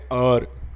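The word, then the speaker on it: hour: अ हां ये देखो इसके आगे एच है लेकिन ये साइलेंट लेटर है ठीक है एच है लेकिन साइलेंट ले लेटर है और उसका हम प्रोनंसिएशन करते हैं अर ठीक है तो अ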